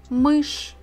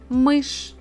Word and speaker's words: мышь: Мышь. A mouse. Мышь.